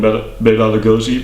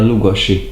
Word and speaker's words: Lugosi: that is better than bosi but sorry I have to correct you because your pronunciation isn't it the best it's ba Lugosi Lugosi okay ba I'm sorry